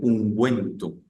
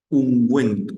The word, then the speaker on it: ungüento: cuando decimos ungüento eh Esa u debe llevar diéresis para eh romper el sonido o o el o el cómo se llama el H concepto de que la g u e suena G para romper ese sonido Entonces yo digo unguento en español Qué pasa este